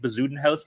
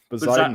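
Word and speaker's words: Bezuidenhout: And I think Bazudenhouse came second, so he gets the first. That might be the grand prize of worst pronunciations. What how do you pronounce it? Bazudenhout? Bazudenhout.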